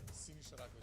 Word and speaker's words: Sinisa Rakovic: How you pronounce it? Sinisa RAKOVIC, or.